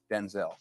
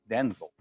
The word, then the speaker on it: Denzel: wait a minute because my name's not pronounced Denzel. Going on to reveal how his name should be annunciated. My name's pronounced Denzel.